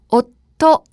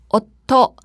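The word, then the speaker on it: おっと: 가 붙어 있는 단어죠 워터 해서 3박자 로 발음 하셔야 합니다 남편 이라는 의미인데요 마냥 이것을 한 글에 받침 처럼 해결해서 워터 라고 발음해 버리면 작은 수가 없는 단어 워터 라는 단어와 잘 구별이 가지 않기 때문에 전혀 다른 말이 되어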